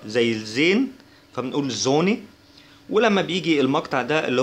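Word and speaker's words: Sonne: اس ده بيتنطق زي الزد كده، فبنقول زوني زوني يعني شمس زوني.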